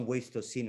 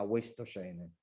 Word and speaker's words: Wastocene: Però poi nel sottotitolo hanno messo la parola in inglese Cronache dal Wastocene, che in italiano lo diciamo all'italiano, cioè non Wastocene ma Wastocene, con una pronuncia italiana.